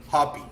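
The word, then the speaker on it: Hoppe: I'm gonna say it like I heard it on the Univision broadcast when we were playing in the final against Mexico. Hoppy.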